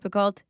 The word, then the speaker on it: Picoult: always forget how Picoult is actually spelled, it's Picoult. Okay, and it's not pronounced Picoult, it's pronounced Picoult.